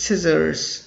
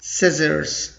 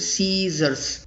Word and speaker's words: scissors: Some people commonly mispronounce it Caesars. Caesars. That's incorrect. Or they sometimes say Caesar, only one. That's not correct also. So scissors. Not exactly Caesars, but scissors. That's correct pronunciation.